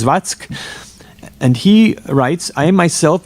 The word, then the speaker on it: Zwack: And again, the sort of conclusion, the concluding statement is by another General Zwack, Z-W-A-C-K, which I pronounce as Zvatsk.